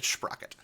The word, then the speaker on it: Sprocket: Don't pronounce his name any other way. It's Sprocket.